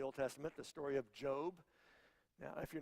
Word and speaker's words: Job: around Church maybe thinking that guy just pronounced that word wrong that's job Jo because my mom used to always tell me son you need to get a Jo B job and I know that's what it is that's probably how you